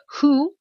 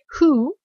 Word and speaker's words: who: Alors ici, who, généralement, on le prononce du premier coup, donc par contre, le W ici, il est muet, hein, donc je vais peut-être pas le remettre, who, alors comme ça, who